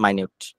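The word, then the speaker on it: minute: বলতেছি spelling same ইয়ে different আর কি আপনার উচ্চারণ ডিফারেন্ট মাইনিউট এরপরটা ডিসার্নেবল এটা আই গেস হচ্ছে আমরা এর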